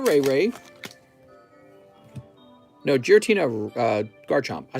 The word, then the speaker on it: Giratina: the girotina rayquaza oops oops come on now jira tina ray ray no giratina uh garchomp i said it right the first